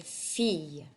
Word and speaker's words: fille: sound, like the word fille. Okay, so a double L is almost always a Y sound.